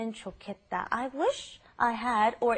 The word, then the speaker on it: 좋겠다: It's pronounced differently than how it's spelled. It's the pronunciation is 좋겠다, 좋겠다.